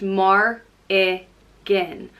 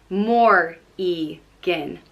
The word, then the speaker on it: Morrigan: Or it can have a fada over the I and it's pronounced Mar-I-Gin. Or it can have a fada over the O and the I and it's Mor-I-Gin. Morrigan. So yeah, different variants depending on the fadas.